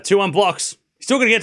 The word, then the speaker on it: Blockx: It's pronounced Blockx.